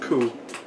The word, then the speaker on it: coup: It's called a coup. The P is silent.